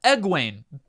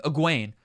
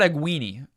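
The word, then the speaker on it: Egwene: and perrin scratch that ed wayne is that how you pronounce her name aguain it's probably more like that um it's not egg weenie but i i really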